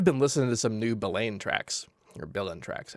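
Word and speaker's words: Billain: listening to some new Billane tracks. Or Billin tracks. I think he's pronounced his name Billin.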